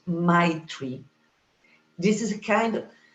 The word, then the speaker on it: Maitri: Maitri. This is the word. Short, sweet. You have to smile to pronounce it. Maitri.